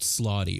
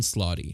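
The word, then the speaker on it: slaadi: One thing I've always found interesting is that there are these extraplanar beings called slotty or slods. It really just depends on how you want to pronounce it. It's more often slotty.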